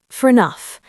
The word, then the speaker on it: fair enough: Say it fast, fair enough. The A becomes a quick schwa.